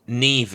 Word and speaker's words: Niamh: Neve is spelled Niamh, so pet peeve.